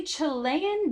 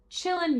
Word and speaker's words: Chilean: terrorizing my city or as my mother pronounces it chilling gangs to which I had to tell her they're not chilling they're they're just from the country of Chile they are well armed